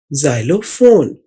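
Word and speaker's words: xylophone: इसकी आवाज में XYLO असल में जाइलो की आवाज निकाल रहा है एक्स। ये दूसरी आवाज है जो एक्स निकालता है जो जेड की आवाज है, ये देखिए ZYLO जाइलो।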